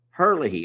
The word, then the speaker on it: Herlihy: Oh, and also Diane, she kind of does that little whole Webster pronunciation of her last name. So it's Herlihy over here.